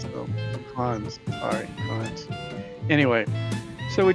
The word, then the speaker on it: Cannes: Informs me the correct pronunciation is Cans, not Cairns, so Cons.